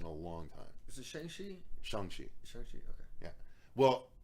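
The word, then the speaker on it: Shang-Chi: long time is it shengshi okay yeah well i always thought it was shang chi but in the movie they call him shangchi okay they're probably pronouncing that right yeah i would hope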